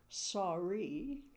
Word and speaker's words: Sarai: So, we first meet Sarai or actually the correct pronunciation is Sari. Oh, like sorry.